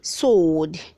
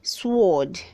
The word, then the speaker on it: sword: silence red 300 81 says sword say sword don't say sword the w is silent red 382 says shiloh